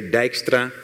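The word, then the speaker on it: Dijkstra: basic even that extra Dykstra that's how you pronounce that at skip Dykstra I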